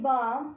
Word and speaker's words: balm: In balm, though L is there, it is silent.